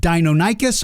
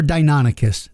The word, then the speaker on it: Deinonychus: Is it Deinonychus or Deinonychus? The answer is yes.